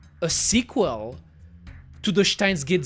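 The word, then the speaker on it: Steins;Gate: I like how you pronounce Stein. Very German for me. Yes, I pronounce it Steins Gate. Steins Gate. Pretty sure it's the way to pronounce it, right?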